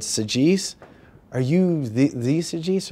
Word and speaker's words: Saggese: my credit card and she looked and she pronounced my name correctly and she said SES are you the the SES are you